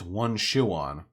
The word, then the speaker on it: Juan Sean: Also, it's pronounced one shoe on.